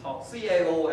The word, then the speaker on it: Cao: So the book was written by, the author is this guy, Cao Xueqing, CAO actually pronounced Cao in Chinese.